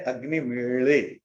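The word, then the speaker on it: अग्निमीळे: ये वैदिक संस्कृत में, वो ल का थोड़ा हार्ड वर्जन है, ळ, वो है अग्नि मेड़े, ये ला नहीं है।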